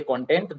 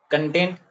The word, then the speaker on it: content: They sometimes they content, they say content, but both are different. What are same, but pronunciation is different.